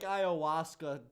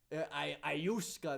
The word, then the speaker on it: ayahuasca: I feel like ayahuasca does sound like a psychedelic. If it was Ayuska, that sounds like a Ayahuasca is actually how you say it?